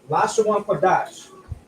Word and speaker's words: Lashawan Qadash: Again, we have a connector. This is alone. This is a 2. That's a qua, a da, and a sha. But we have a connector here that connects the da and the sha, which now is pronounced dash. So Lashawan Qadash.